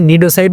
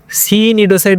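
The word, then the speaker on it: cnidocyte: আচ্ছা আমি এখানে নিডোসাইট বললাম কেন? সি নিডোসাইট বললাম না কেন? বা সি নিডোসাইট বললাম না কেন? কারণ এইখানে সি এর উচ্চারণটা সাইলেন্ট থাকবে।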